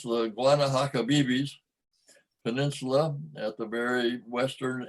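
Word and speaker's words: Guanahacabibes: Now we're way down to the end of the peninsula, which I had to learn to pronounce, the Guanahatabibis Peninsula at the very western end of Cuba, where there's a national park.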